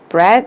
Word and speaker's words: breath: breath 다음에 이 TH는 혀를 깨물으면서 뜨라고 발음을 돼요. 뜨.